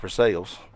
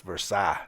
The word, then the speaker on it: Versailles: it hadn't heard and paid attention to the pronunciation so I've talked for 45 minutes about for sales tell them how great it was you know